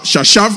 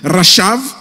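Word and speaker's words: חשב: du du verbe rachave ça s'écrit ch chachave mais ça se lit rachave qui signifie penser calculer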